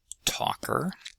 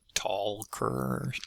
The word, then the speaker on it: talker: And uh despite the L in the spelling, no L in pronunciation. Talker, not tall-ker some such thing.